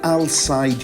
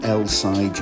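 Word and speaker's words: Al Said: So, the Alside yacht, not the LI yacht as I have been pronouncing it, is 155 m long, which is about 510 ft.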